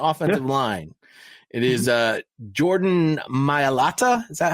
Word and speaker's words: Mailata: It is Jordan Mailata.